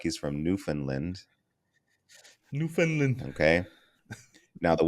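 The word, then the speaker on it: Newfoundland: sounds like he's from New Finland New Finland okay now the way that's spelled if I want to be a disrespectful I would call it New Foundland but because I respect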